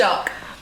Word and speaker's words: Taoiseach: president, or only thought had how do you pronounce it? Taoiseach.